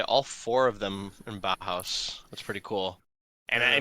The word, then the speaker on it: Bauhaus: Bauhaus.